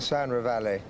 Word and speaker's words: Sound Reveille: How is this horse pronounced? Sandra Valley, but I don't think they speak much French in Australia, do they?